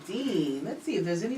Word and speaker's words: Din: um de de is Dean is African it's actually it's spelled D in but it's pronounced Dean like James Dean but um it it